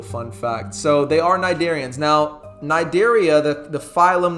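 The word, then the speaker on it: Cnidaria: Once again nidaria is spelled with a c. So the c is silent.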